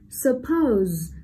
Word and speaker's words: suppose: Suppose, suppose là động từ có hai âm tiết, vậy trọng âm rơi vào âm tiết số 2 đúng không nào?